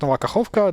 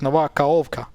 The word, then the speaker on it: Nova Kakhovka: Of course, so if they would write something like Nova Kakhovka like this, there's a pretty big chance people would stop pronouncing the H. And they would be like, just instead of Nova Kakhovka, they would say it Nova Kaovka.